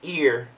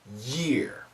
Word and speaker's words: year: sometimes for some students if you say the words separately it sounds like ear and not year it's a tough sound